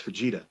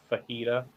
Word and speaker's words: Fujita: haven't heard nothing yet let's see that was vegeta all right so in pro wrestling noah uh it's pronounced fajita no oh okay all right but put some